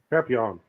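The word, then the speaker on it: Papillion: How do you say that? Papillon. Oh, okay. It's French, so you know.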